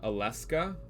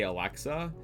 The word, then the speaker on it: Alexa: I had a friend, Nye, who called Alexa Aleska. And she could not, for the life of her, pronounce Alexa. She would always say Aleska.